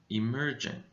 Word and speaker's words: emerging: said three you're correct there are three syllables in emerging e mer jing emerging now where do you think the stress is in this word the stress goes on the second syllable so this syllable is a little bit higher in volume emerging emerging now let's